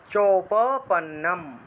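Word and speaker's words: চোপপন্নম: অনেকে তো এই যে চোটাকে মানে চুপ বলে উচ্চারণ করে ফেলে, রস্যকারের মতো উচ্চারণ করে ফেলে, চুপও উচ্চারণ করে ফেলে, এটা চ অকার। ঠিক আছে, চৌপ, চৌপ এইভাবে উচ্চারণ হবে, চৌপপন্নম।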